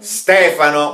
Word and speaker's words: Stefano: Стефано, ударение на «е».